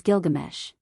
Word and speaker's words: Gilgamesh: G GES pinch's Discovery pointed conclusively to the popular pronunciation of the hero's name as Gilgamesh and since alien daura